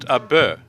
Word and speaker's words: Abeh: It's pronounced Abeh, and it's colloquial to the Philippines.